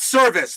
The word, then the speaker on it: Service: pitches to Scott service Scott service the pitcher his last name is spelled s r v i c the batter Scott service his last name is spelled s rvis s and they are spelled the they they are sounded exactly the same and yep Scott bullet